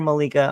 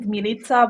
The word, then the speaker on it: Milica: much for being here Malika I hope I'm saying your name right is that the right way to say it actually you pronounce it milita but I'm used to in the US it's Melissa Mia whatever it is